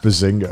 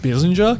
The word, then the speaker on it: Bissinger: Already hate the show before you First of all, it. it's pronounced Bissinger.